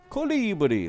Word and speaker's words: colibri: hummingbird hummingbird hummingbird hummingbird here's how to say it in French hey isn't that a fart ibly Colibri as I say it in French the French word for hoverboard is Colibri the French